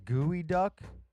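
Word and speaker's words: geoduck: It's pronounced gooey duck.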